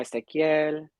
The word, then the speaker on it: Ezequiel: you know, like yo me llamo Ezequiel, Mhm. um, y, and it's not spelled the way it is spelled in English. You know, it's spelled Mhm. Ezequiel with the Yeah, QU, not a K.